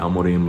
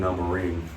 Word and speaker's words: Amorim: Amorim, like the Man United manager, against Mizuki in a way.